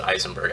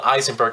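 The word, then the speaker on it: Ayzenberg: They call it, it's pronounced, you know, it looks like Eisenberg, but they pronounce it Eisenberg, I guess.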